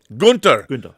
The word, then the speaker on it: Günther: How do you pronounce Gunther in German? Günther.